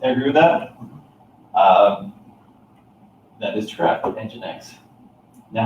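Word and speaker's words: nginx: YouTube talking about this what would make you think this is possibly called engine X right okay what what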